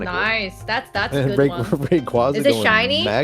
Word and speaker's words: Rayquaza: Uh, actually it's pronounced Rayquaza.